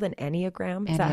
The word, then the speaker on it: Enneagram: we're gonna do that is it called an Enneagram is that how you say it yep I